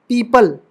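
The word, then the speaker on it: people: व साइलेंट रहता है जैसे पीपल देखो के सा ओ के साथ है इसलिए ओ गायब साइलेंट जे पर्डी जे पर्डी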